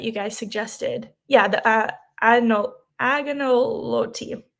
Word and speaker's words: agnolotti: Yeah, the agnolotti. The lady said the G is silent.